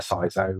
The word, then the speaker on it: CISO: pronounce SEO Sao seeso normally just seeso yeah I must admit it's even even um more recently I've been to events where I've spoken to non-security staff and you know seet members and they haven't got a ceso and they call it a sio or yeah there's loads of variations of it but I've always pronounced it ceso so that's what I'm